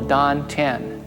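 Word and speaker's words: tan tien: Chinese is called the dant t a n t i n pronounced like a d the dant translates into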